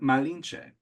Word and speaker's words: Malinche: And so they start calling her Malinche.